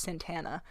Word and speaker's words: Santa Ana: Once I get my freaking stupid Mexican Santana, it's spelled like Santa Ana, but apparently it's pronounced Santana.